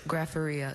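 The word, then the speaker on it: graphorrhea: Another one where the very middle of this word, that connecting schwa sound, Grapharia.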